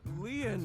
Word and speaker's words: Lien: by your side dude my name Lian is spelled l-i-e-n in French lien means Bond just like cajuna means